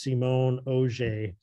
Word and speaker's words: Simone Auger: But because I know her, I know her name's pronounced Simone Auger. And I think she just joined us.